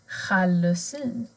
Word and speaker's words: jalousi: Men observera, ops, en special här som har sj, sj-ljudet. Jalousi. Här ser ni en jalousi. Och det är ett låneord, så här blir uttalet annorlunda.